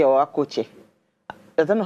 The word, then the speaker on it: Akwete: Is that Akwete or Akoche? I don't know how to pronounce it. Akwete, okay, Akwete cloth.